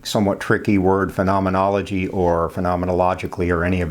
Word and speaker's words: phenomenologically: to say that here's how to say it phenomenologically okay so this is going to have to